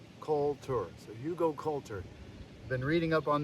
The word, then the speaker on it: Hugelkultur: I finally learned the pronunciation. Hugelkultur. So Hugelkultur.